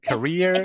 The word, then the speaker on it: career: remember that Americans say then we got career and carrier career and carrier he had a career working on an aircraft carrier good it's four but